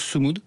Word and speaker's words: Sumud: Euh alors, vous avez embarqué donc en septembre 2025 hein sur la globale Sumud. Je sais pas si je le dis bien. Alors ça se prononce Summou. Sumou.